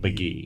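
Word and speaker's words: Mk.gee: GE and pronounced McGee and is this rock and roll or is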